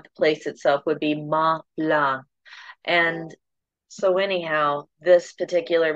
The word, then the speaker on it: Mont Blanc: uh French pronunciation which you don't pronounce the last letter of each word you can say Mount Blanc if you prefer whatever's